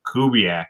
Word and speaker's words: Kubik: And also, congrats to Kyle Kubiak, right? The one who won the angler button. Kyle Kubik, I believe. Kubik. I could be wrong how I pronounce that. But yeah. It's Kubik.